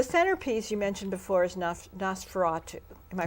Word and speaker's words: Nosferatu: So the centerpiece you mentioned before is Nosferatu. Am I pronouncing that correctly?